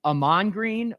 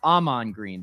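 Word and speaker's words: Ahman: know this is it Aman green or Aman green the emphasis on the first half of his name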